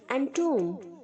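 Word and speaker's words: entomb: यहाँ पर जो बी है बच्चों वो साइलेंट है, इसलिए बी प्रोनाउंस नहीं होगा, एंटूम्ड नहीं बोलेंगे, एंटूम। और जो टी के आगे सिंगल ओ है वो डबल ओ की तरह प्रोनाउंस होगा, टूम, टूम।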